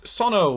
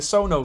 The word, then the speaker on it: Sono: anything this the Audient Sano which I've been calling the sono for two months and it turns out is pronounced Sano Sano I feel like a